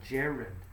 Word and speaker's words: gerund: you'll remember from pronunciation a soft G is like a J so we say Jared and in this case